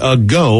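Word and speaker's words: Geaux: helping people out here a go brewery in auburn pronounced a go which is actually spelled g-e-a-u-x uh their tap room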